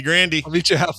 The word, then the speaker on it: Grande: Thomas Matthew Grande, or Grand. Not sure how he goes. No, it's definitely Grande. Is it Grande? Because maybe definitely. You don't think that guy? Grande. You don't think this guy maybe says Grand? Well, in Tennessee, that's what I'm saying. I just feel Grant could be Grandy. I'll meet you halfway, Grandy.